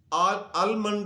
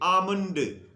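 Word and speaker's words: almond: लोग आलमंड पहले तो यह आलमंड लिखने में एल आता है पढ़ने में बोलने में साइलेंट होता है आलमंड नहीं कहेंगे आमद बादाम की अंग्रेजी अब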